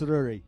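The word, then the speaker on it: Ruairidh: How do you pronounce R U A I R I D Aari? Ruri. Oh, she tell me it's Ruri.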